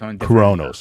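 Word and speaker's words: Cronus: that uh her husband was uh coronos that's coronos okay not not Uranus yes that's correct I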